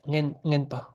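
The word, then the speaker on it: ངན་པ: Yeah, ngenpa. Ngenpa. Because the na suffix changes the a into an a sound.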